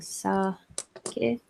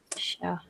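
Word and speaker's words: 鮭: Sounds like the drinking sake, but it's actually different character, but same pronunciation. Oshake. So sake or shake means salmon.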